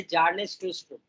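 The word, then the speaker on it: Bjarne Stroustrup: C++ 1978 में, है ना, 1978 में जो है C++ आया, इसका इन्वेंटर थे जार्नेस ट्रूस्ट्रुप। जार्नेस ट्रूस्ट्रुप, बी साइलेंट है, जार्नेस ट्रूस्ट्रुप, इन्होंने C++ को इन्वेंट किया।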